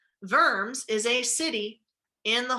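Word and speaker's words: Worms: of verbs remember that the w is pronounced like a v verms is a city in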